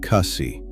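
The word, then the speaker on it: kasih: Pronounce the h on kasi.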